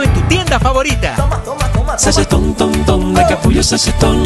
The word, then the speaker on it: Sachetón: ¡De capullo, sachetón! No es cachetón, tampoco reggaetón, se pronuncia sachetón con...